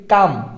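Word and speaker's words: calm: এইটাকে আমরা উচ্চারণ করি কাম এটার বাংলা যদি আমরা লিখি সেটা হচ্ছে কাম হবে কি হবে কাম হবে বাট এখানে এল টা কিন্তু উচ্চারণ হবে হচ্ছে না ঠিক আছে তো এরকম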